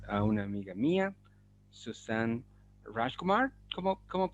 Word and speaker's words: Rajkumar: tengo el gran placer de presentarles a una amiga mía, Susan Rajkumar. ¿Cómo pronuncia su apellido?